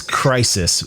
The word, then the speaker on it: Kraisis: brain yo this is this is crisis spelled k-r-a-i-s-i-s by cry so for